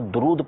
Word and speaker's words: درود: اسی طرح عام طور پہ جو تلفظ ہے وہ درود پڑھا جاتا ہے، درود نہیں پڑھا جاتا کہ تم پر درود و سلام. تو دال کے اوپر پیش، یہ عام طور پر